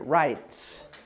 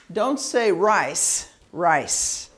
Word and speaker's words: rights: Rights. Yeah, rights. So don't say rice. That's not right. You have to say rights. It's just a tiny little T.